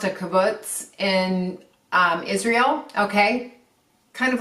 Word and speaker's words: kibbutz: He worked on, I believe it's pronounced a kibbutz in Israel, okay?